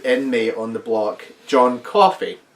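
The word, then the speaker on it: Coffey: right he keep saying he keeps saying John cofy with an R it's like he only said it 15 times in the film me I know my name John coffee like the drink just not spell the same that means you don't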